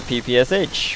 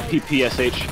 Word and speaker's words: PPSh: know it being the ppsh i usually pronounce it as like a word hence the sound i made good stuff all